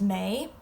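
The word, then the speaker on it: mé: So anyway, how you say I is may, how you say you, tu, he, she, which can also be used for it.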